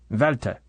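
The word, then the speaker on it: Valter: nod of the head valta said the thin mouth above the Black Imperial correcting drax's pronunciation and my what shall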